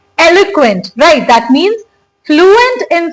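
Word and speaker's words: eloquent: पहले इस वर्ड की प्रोनाउंसिएशन क्या है? एलक्वेंट। इट्स एलुक्वेंट।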